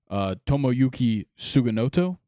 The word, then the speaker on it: Tomoyuki Sugimoto: The Orioles signed 35-year-old NPB right-handed pitcher Tomoyuki Sugimoto, I believe is how you say it, to a 1-year, $13 million deal.